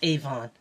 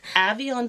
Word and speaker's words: Avion Players: Avalon, not Avon. Yeah. So it's Avion Players, and I asked them because I wasn't sure either. So even though I hear people say it, I wasn't sure that they were saying it right. But he says Avion, and he's the guy,